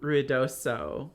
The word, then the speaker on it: Ruidoso: I don't have as many Ruidoso stories. It's also, my family has always pronounced it Ruidoso, and that's how I've said it my whole life. But it's really ruidoso. It's the Spanish word for noisy.